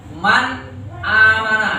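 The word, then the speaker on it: مَنْ آمَنَ: Man, tapi nggak berhenti. Jangan man amana enggak. Jangan lama-lama kali. Man amana kayak bacaan koma dia, tapi jelas ya kan? Nunnya mati ya kan? Man amana.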